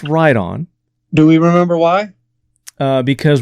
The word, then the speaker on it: Riton: A lot of people pronounce that written, but it's pronounced Riton.